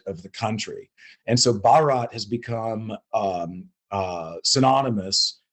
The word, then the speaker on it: Bharat: so the company also announced the launch of Barrett box what can you tell us about the